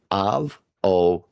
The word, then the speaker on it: avocado: Word avocado has four syllables. Avoado. The primary stress falls on the third syllable. Ca. Mhm. Which sounds like car.